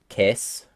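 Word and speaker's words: qu'est-ce: ignore so many letters qu is just K you ignore the s T and you ignore the e so kiss then it's just occur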